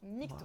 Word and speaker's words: MGTOW: fait mes petites recherches déjà ça se prononce nique ton ça signifie men going